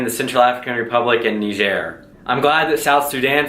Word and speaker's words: Niger: Finally, though, this year, the Central African Republic passed Niger, and now Niger is the least developed country in the world. And yes, I'm pronouncing it right. It's French.